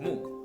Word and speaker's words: 木: For example, moo. The Chinese pronunciation is moo and in Japanese we call it k like in the word suzuki.